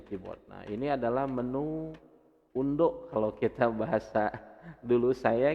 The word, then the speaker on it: undo: Nah, ini adalah menu undo kalau kita bahasa dulu saya gitu ya, itu undo atau kalau bahasa Inggris dibacanya ando katanya.